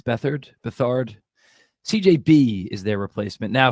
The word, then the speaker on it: Beathard: CJ Beathard, I think it's Bethard.